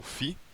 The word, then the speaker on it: φ: Bom, esse símbolo a gente a gente pronuncia, se fala como φ, ele é conhecido como